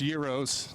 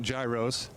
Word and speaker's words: gyros: steak sandwiches around here it's pronounced euros not gyros this guy's name is